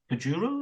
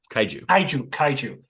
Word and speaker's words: kaiju: with the pronunciation because the Japanese word for them is kujuru, is that right? Kaiju. Okay, so when you get